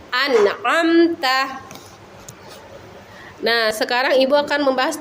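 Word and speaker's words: أنعمت: Tidak memantul seperti ana, amta. Itu salah ya anak-anak. Atau didengungkan an, amta. Itu salah lagi ya anak-anak. Jadi yang jelas itu an, amta.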